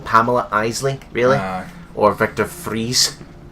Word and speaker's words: Victor Fries: Isley really hard or vector freeze or is it or some pronounce it Victor fries okay someone's away from